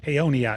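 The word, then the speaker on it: Paonia: Uh, it's a P A NI A. I want to just make sure I'm pronouncing it. Peyonia. Is it P A Y? So, phonetically, P A Y onia.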